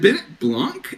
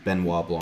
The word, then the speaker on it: Benoit Blanc: Is it Bennett Blanc? Is that how you say his name? I think so. Okay. I think it's Bennett Benoit Blanc is at it again with a new mystery. This one in Russia. It's Benoit Blanc, I'm pretty sure.